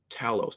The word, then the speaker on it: Talos: Nick Fury left Earth uh Talos Talos that's the proper pronunciation Talos brought a whole bunch